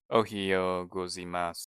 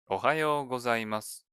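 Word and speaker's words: おはようございます: by context and correct your pronunciation when you mispronounce them. Ohiyo gozaimasu. That was just the first syllable. Try saying the whole phrase clearly. おはようございます。 Ohayo gozaimasu.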